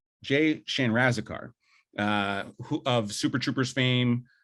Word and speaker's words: Chandrasekhar: And it's directed by Jay, I want to make sure I pronounce this right, Jay Chandrasekhar, Jay Chandrasekhar, who of Super Troopers fame.